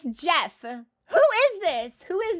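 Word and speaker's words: Geoff: Who's Joff? Joff Kaylee. Is it? Why do you not know? It's fucking... I've never seen Jeff spelled like Joff before. Fuck off. It's Jeff.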